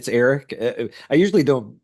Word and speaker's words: Aric: But yeah, it's Aric, just like a normal ERICK whatever.